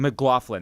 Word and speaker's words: MacLachlan: it's Kyle really Kyle MacLachlan. McLaughlin. That's how you say it.